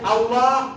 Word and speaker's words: আল্লাহ: স্তর থেকে লাম তাহলে আল্লাহ শব্দটা মুমিনের ভেতরে থাকে মানুষের ভেতরে থাকে না বাইরে থাকে ঠোট লাগে না উচ্চারণে ঠোটের কোন অক্ষর নাই ঠোট দিয়ে যে মিম